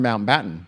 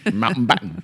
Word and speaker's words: Mountbatten: You guys both keep saying Lord Mountain Batten. No, Mount Batton. You you said it right that time, but the time before that and the time before that and the time before that. You Lord Mount Batten.